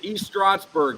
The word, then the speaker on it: East Stroudsburg: Brent Frye he's an East Stroudsburg guy yeah the new line coach for Virginia Tech is the East strats am I saying it right yeah right yeah I believe so East Stroudsburg East Stroudsburg it's St it's s-t-r-o-u-s